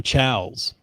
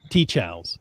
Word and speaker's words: TCHALS: going to talk about as udac says the chaos or tea chaos so use the hashtag